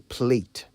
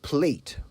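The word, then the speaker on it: plait: you say plot or plate well it's spelled p-l-a-i-t but it's pronounced plat in British English the Americans however say plate some even say play personally I believe English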